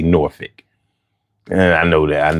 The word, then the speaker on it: Norfolk: uh not Virginia Beach, but Norphick, which is spelled Norfolk, but you know, they say Norphick.